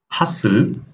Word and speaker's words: hustle: This time the letter is T. Often, Nestle, butcher, hustle, listen. Here, we haven't pronounced the letter T.